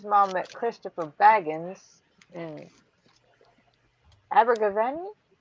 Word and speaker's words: Abergavenny: met Christopher Baggins in Abergavenny. Am I pronouncing that right? I don't think so. Abergavenny. You got me saying Abergavenny. Abergavenny. Abergavenny. Yeah. Abergavenny. Okay. I had the stress on the wrong syllable.